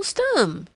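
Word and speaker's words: Stumm: grin why it's Colonel stum he cried he pronounced it like the first syllable in stomach very pleased to meet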